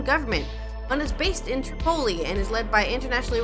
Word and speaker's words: Tripoli: That summer, Tripoli, say Tripoli. Tripoli. Tripoli, that's how you say it. Tripoli. But no, I feel like it's supposed to be Tripoli because Poli is Greece Greek for city.